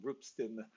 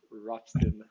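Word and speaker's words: Ropsten: through what happened on i now believe it's pronounced roopstin and not roxton in proper swedish uh yeah anyone wanted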